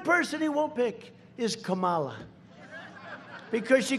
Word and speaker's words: Kamala: No, my name is Kamala, like comma.